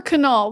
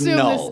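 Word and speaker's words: Knull: Is it Null or Canal? The K is silent, I assume? The K is silent. It's Null.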